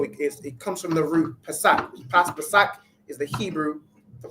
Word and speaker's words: Pesach: All right, and the word is Pesach. All right, Pesach, which we all know is the Passover.